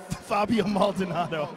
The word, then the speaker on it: Fabio Maldonado: Fabio Maldonado.